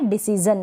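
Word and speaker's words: decision: Next है डिसीजन, क्या है डिसीजन, यहाँ पर भी जन पढ़ रहे हैं, शन नहीं पढ़ रहे हैं।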